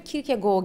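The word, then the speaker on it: Kierkegaard: ettin ama ben hep kig gegard diyorum kig gegard ya o zaten şey Danimarkalı olduğu için isminin orijinalde telaffuz edilme biçimi kirke Go gibi bir şey ama kir diyebilirsin Ben de arada öyle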